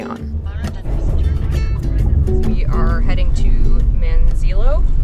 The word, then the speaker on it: Manzanillo: We are heading to Manzanillo. How do you say it? Manzanillo.